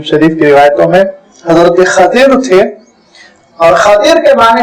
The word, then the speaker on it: خضر: وہ آپ جانتے ہیں جس کو حیدرآباد کے غلط تلفظ میں خضر خضر کہا جاتا ہے، عربی کا صحیح تلفظ ہے خضر، خا پہ فتحہ ہے، بات پر کسرہ، خضر۔ یہ روایتوں میں نام